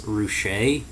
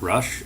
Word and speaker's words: Rusche: It's pronounced Chris Rusche, not Rush or Roosh or Roush.